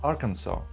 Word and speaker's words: Arkansas: For real, you see this is pronounced Kansas while this is pronounced "Arkansaw" despite the fact that they have six identical letters they are pronounced differently so what's wrong with this name?